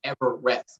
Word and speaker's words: EveRest: that that's called everest it's spelled like everest but the r is capital so it's like ever rest a little word play there so we go